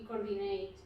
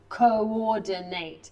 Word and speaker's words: coordinate: In environmental management, we coordinate. We coordinate. Yeah. And you should pronounce them coordinate because one is O and one is O.